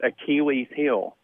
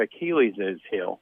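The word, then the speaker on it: Achilles' heel: sounds like for instance achilles heel is just achilles with an apostrophe it's not achilles's heel you know so that's why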